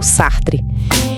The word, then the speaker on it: Sartre: A pronúncia é mais ou menos Jean Paul Sartre.